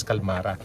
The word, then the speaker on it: Qalmara: p calmara so the right pronunciation is calmara so kasakay tayo sa bagi yan and tingnan natin yung mga rooms muna nila.